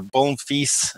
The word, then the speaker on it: Bonfils: name then Bonneville's or bone fils is the French version of saying my last name and please if you're going to practice it on me pronounce the S otherwise you call me a good little girl so s needs to be pronounced and if you wonder